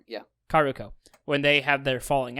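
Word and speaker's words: Kaoruko: because when futaba and karuko how do you pronounce her name uh karuko yeah karuko when they have their falling out they go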